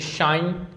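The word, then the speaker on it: sign: जैसे शाइन ठीक है?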